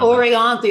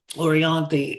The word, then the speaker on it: Orianthi: When you talk about Orianti, I think it's pronounced Orianti.